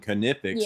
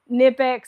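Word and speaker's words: Knipex: not a big deal when you saw it even in your brain you pronounced it nipex and so then when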